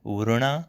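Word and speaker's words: ورونه: So be careful of the pronunciation of uruna. It's a n sound.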